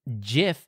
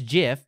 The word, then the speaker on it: GIF: I mean just like JF is the correct pronunciation of that word of animated images that we share on the internet it is JF yes like the peanut butter all right here's the